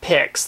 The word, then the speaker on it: Pix: Okay, as I said, I'm taking a look at Pics. That's spelled P-I-X.